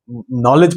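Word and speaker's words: knowledge: अरे एक होता है नॉलेज, पढ़ते हैं नॉलेज, शुरू किससे होता है? के से। के क्या है बेटे? साइलेंट।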